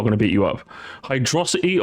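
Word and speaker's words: Hydrocity: to beat you up hydrosity or Hydro City it's hydrosity purely because hydrosity just sounds more fun to say if you say Hydro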